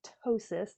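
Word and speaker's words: ptosis: t s i s tosis the p is silent and basically what that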